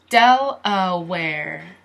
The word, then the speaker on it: Delaware: del uh where where it sounds like the word where like this where del uh where del uh where del uh where Delaware Delaware Delaware Delaware Mexico